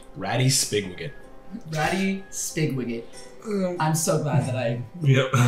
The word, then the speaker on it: Spigwigget: Ratty Spigwigget. I'm so glad that I phonetically spelled that right.